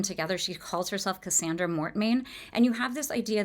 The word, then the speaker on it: Mortmain: So the father is named Mortmain um which is spelled m o r t m a i n in French that would mean dead hand.